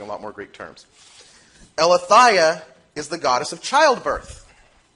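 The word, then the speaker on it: Eileithyia: It's pronounced Eleutheia.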